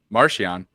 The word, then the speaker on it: Marcion: What title did Marcion, because that's how you actually pronounce his name, Marcion, hold among the Nihil at the time of his campaign against the Republic in 232 BPY?